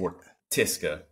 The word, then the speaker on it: Wortiska: Is it Wortiska or Tiska? How do you say it? Wortiska. Okay. Wortiska.